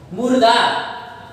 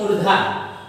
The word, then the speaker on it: मूर्धा: मुर्दा, मुर्दा, इसी में अक्सर बहुत से लोगों को समस्या होती है, मूर्धा।